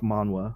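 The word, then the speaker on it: manhwa: uh korean manga sorry korean manga but it's pronounced manwa anyways so yeah by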